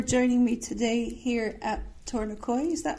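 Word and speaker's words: Tor-na-Coille: Good afternoon, Calum, and thank you for joining me today here at Tornacoil. Is that how you say it? I can never pronounce it. Tornacoil, there we go.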